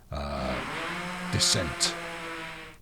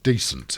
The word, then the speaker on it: Descent: just around the corner dissent or decent if you want to pronounce it wrong descent to mainline good